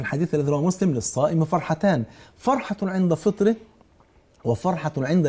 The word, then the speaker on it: فرحتان: فهو طبعا انه جريجي فبينطق الح خاء فقال له للصائم فرخه قال له لا فرختان يعني فرحتان مش يعني فرختان المشروع وده بيفكرني بواحد